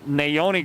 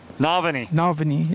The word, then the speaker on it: Navani: I've got Naoni Gray, but that's not the correct pronunciation. Navani, yeah. Navani Gray.